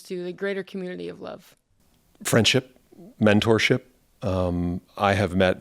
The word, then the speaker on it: LOVB: So that, and related to that is, when you call something LOVB and pronounce it love, community is the heart of it.